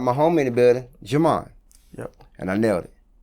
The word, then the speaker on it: Djimon: So, J.Imon, like we said, we were talking about your name. I know you get that a lot. People, screw it up because the D is silent.